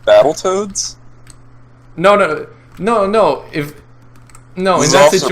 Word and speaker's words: Battletoads: No, if it was said the wrong way, it would be like Battletoads instead of Battletoads. You mean when people overly enunciate? Yeah, like they enunciate the second T when you pronounce it more like a D instead.